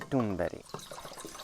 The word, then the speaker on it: Thunberg: Greta Thunberg.